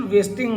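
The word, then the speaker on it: wasting: नहीं कर रहा था इसका प्रोनंसिएशन वेस्टिंग होगा वेस्टिंग अक्सर जब एन जी लास्ट पे आता है ना तो स्टूडेंट्स आपने उसमें जीय ग साउंड जो है ये प्रोनाउंस नहीं करना ही वाज नॉट वेस्टिंग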